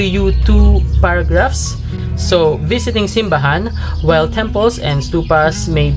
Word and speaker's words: simbahan: central and southern philippines simbahan accented on the final syllable was chosen for this book title a conscious move away from the manila way of naming things which accents simbahan on the middle syllable the word itself developed